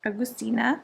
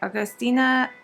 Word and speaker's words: Agustina: Agustina. Okay, that one I was pretty sure I knew. This one is the one I'm not so sure about. Basterica. Okay, Agustina Basterica. Okay, got it. Agustina Basterica.